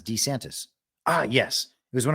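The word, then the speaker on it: DeSantis: of Ron de santis saying pronouncing his name as D santis ah yes it was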